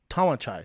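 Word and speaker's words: Tawanchai: Tawan Chai.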